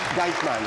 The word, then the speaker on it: Geitman: J'espère que je prononce bien votre nom, Madame. C'est bien? Jetman ou Gatman? Geitman. Excusez-moi.